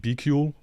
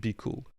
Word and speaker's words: BQool: If you know me, you know I used to call it BQOOL. I have the right pronunciation now, it's called BQOOL.